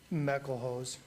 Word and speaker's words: Meckelhose: Is it Mick Elhose, or is it? Meckelhose.